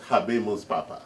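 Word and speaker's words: Habemus Papam: Yes, exactly, to say we have Habemus Papa, we welcome the new Pope. Is that how they say it? Yes, Habemus Papa.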